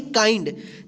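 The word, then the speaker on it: kind: काइंड। इसको किंड नहीं पढ़ेंगे। क्या पढ़ेंगे? काइंड।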